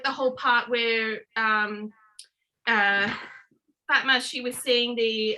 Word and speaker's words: Fatma: you remember how like the whole part where Fatma, she was seeing the how do you say her name, by the way?